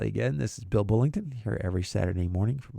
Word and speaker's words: Bullington: And Bullington is spelled b u l l i n g t o n. And not Burlington, not Birmingham, it's Bullington.